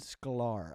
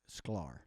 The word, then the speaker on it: Sklar: guitarist his name is Leland scolar I think is how you say his name SCAR or I think it's sklar um he has played